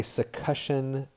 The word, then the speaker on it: succussion: demonstration right so this is something called a succussion splash and it is spelled wrong on the slide sorry it's succussion